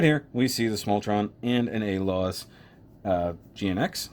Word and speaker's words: Smultron: 704 t SP ahead small tron small trunk I keep adding an extra syllable like there's an eye